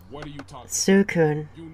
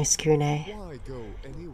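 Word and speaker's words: Tsukune: Su-kun. Really? That mispronunciation, though. How dare you diss my skune?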